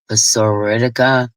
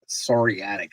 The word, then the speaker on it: psoriatic: Psoriatic arthritis or whatever. Yeah, the P is silent.